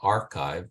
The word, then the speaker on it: arXiv: the um the repository called archive is spelled arxiv uh archive which is hosted by